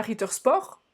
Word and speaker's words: Ritter Sport: richmond donc c'est pas ritter sport reach boîte et on prononce bien le thé à la fin parce que les allemands aiment bien prononcé toutes les lettres qu'ils écrivent eux ok on a vu